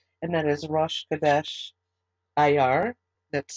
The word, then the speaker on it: Iyar: We are going to be bringing in a new Hebrew calendar month, and that is Rosh Chodesh Iyar. That's spelled I-Y-A-R, and we'll be doing that tomorrow.